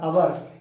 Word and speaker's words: hour: अब यहाँ आवर आ गया, HOUR, आवर, 80 मील्स, आवर। अब आवर जो घंटा है ना, इसमें एच साइलेंट है, इसलिए ओ देखेंगे, तो